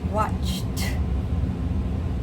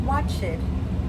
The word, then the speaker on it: watched: Watched, not watched. Watched. Now, with the T sound, you'll notice that we do not add an extra syllable.